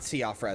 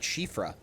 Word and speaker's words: Siofra: It's not Siofra, it's like Shifra.